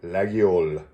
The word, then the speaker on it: Laguiole: that store and he created corrected my initial pronunciation because it was terrible so he taught me how to say laggiol so let's see what we got here there